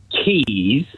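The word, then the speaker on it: Caius: if like you know you wouldn't pronounce them the way they're spelled so the two examples are um C AIU which is Keys yes yeah Keys College Cambridge and the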